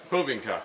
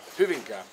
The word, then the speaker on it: Hyvinkää: So, Hyvinkää. Hyvinkää. Like moving car, but it's like a Hoover moving car.